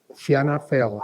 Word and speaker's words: Fianna Fáil: He was Minister for Agriculture and Government Chief Whip in 2020, Deputy Leader of Fianna Fáil. How do you pronounce that?